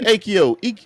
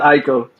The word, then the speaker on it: Aiko: Akio, how you pronounce it again? It's Aiko.